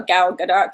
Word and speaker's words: Gal Gadot: has to offer I love her actor uh gal gadot yeah um that I know that's how you